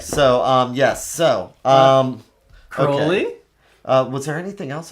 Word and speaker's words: Crowley: I love how in the Sandman they pronounced Aleister Crowley's name correctly, and Constantine for that matter.